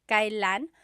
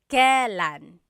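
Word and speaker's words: kailan: Kylan, but you will often hear it pronounced kalan.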